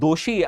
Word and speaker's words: Doshi: Oh, your name is Ji Doshi. I was I usually used to pronounce Ji Jooshi. Sorry for that.